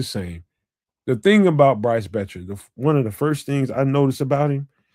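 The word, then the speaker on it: Boettcher: This is linebacker Bryce Betcher. The O is silent.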